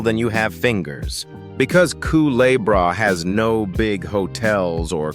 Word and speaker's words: Culebra: Kicking off our countdown at number 10 is a speck of an island pronounced Culebra, floating in the warm waters east of Puerto Rico.